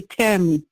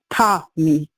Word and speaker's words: Tami: Like Americans say Tammy, but Jamaican say Tommy. Tommy.